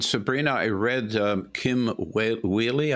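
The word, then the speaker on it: Wehle: i read um kim wheely i believe pronounce her name w-e-h-l-e uh in the bulwark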